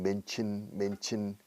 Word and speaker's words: mention: Mention, fíjate en la pronunciación de mencionar, mention, chin, mention.